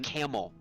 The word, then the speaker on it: Campbell: grew up that uh is spelled c a m p b l l but if you ask any of the people who are from that town how it's pronounced right that's what I think that's what I think it is cuz I cuz I was told it is bouet I'm sorry they say camel and that video I